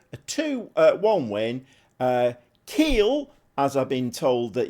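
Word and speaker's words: Kiel: very much Alex and apparent ly it's pronounced Keel uh Keel uh at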